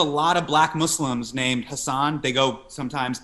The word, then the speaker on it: Hasan: of black muslims named hassan they go sometimes h a double sam yep but the part you know in southeast asia where my family's from it's pronounced husson so yeah i just